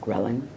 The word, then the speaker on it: ghrelin: And then the other peptide that really works in antiphase to leptin is a peptide called ghrelin or ghrelin. I usually pronounce it ghrelin.